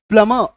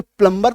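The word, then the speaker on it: plumber: और ये जो आज हमें प्लमर बोलने में ये जो थोड़ी हिचक आती है कि अचानक से प्लम्बर तो बचपन से बोलते आए हैं, अब अचानक से प्लमर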